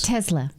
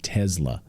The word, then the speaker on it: Tesla: Tesla. She puts a Z in there. Tesla.